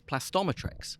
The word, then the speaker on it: Plastometrex: right and so uh Christopher over here was plasto metrics it is plastometric right it's not all right